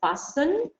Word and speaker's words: fastened: difficult word here is fastened why because we have a letter here which we do not pronounce we don't say Austin